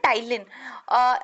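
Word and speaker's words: ptyalin: टाइलिन। तो ये देखिए आप क्या है यहाँ पे इसकी जो स्पेलिंग होती है बेसिकली वो पी से शुरू होती है, पीस में साइलेंट रहता है।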